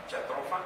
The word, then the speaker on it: Jatropha: de Belice, de Guatemala, para evaluar la famosa jatropha, porque así se pronuncia, Jatropha curcas, una euforiácea cuyos aceites tuvieron un gran impacto para la producción de biodiesel.